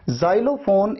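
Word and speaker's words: xylophone: Pronunciation में देखिए एक्स को आपने कैसे प्रोनाउंस किया, ज की तरह।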